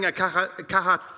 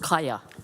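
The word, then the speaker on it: Kaja: It's actually pronounced Kaya, but that's quite all right.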